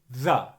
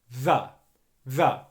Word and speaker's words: the: comes before a consonant which is the the very simply the voiced th sound and the uh schwa sound the easiest way you're